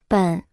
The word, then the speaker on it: 本: 本本本本本本本 Se pronuncia con el tercer tono.